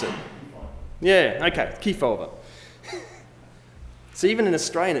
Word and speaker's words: Kefauver: hoping that someone would teach me how to pronounce it yeah okay Kefauver so even in Australian it's going to sound